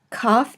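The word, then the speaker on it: כף: English and then COFF COFF is pronounced either as a hard cut sound or a ha sound as in Locke or Bach and we will be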